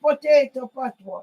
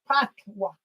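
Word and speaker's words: patois: No, it's not potato patwa, it's patwa. Miss Lou Jamaica patwa. And in English, they spell it P-A-T. Oh, yes, yes. P-A-T. Yeah. But we say patwa.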